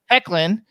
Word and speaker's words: Hoechlin: Ethan Embry, Annabeth Gish, Tyler how do you pronounce his name? Hoechlin? Hecklin.